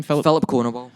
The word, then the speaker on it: Filip Konowal: Filip Konowal.